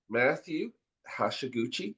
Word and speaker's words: Hashiguchi: So, we're going to cover all that, but Matthew Hashaguchi, am I pronouncing that right, Matthew?